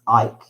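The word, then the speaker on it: Eiche: Question 1, Operation Ike, I think that's how you pronounce it, E-I-C-H-E, Ike, was a mission by German commandos in 1943 to pull off the daring rescue of whom?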